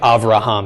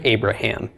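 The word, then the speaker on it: אברהם: Just like Avraham instead of Abraham. Okay, aside from the vowel changes, we say Avraham.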